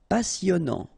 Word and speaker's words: passionnant: Okay, here you pronounce the double S because you've got a vowel, so it's really a strong one. Passionnant. Final T not pronounced. And then here you get this en sound.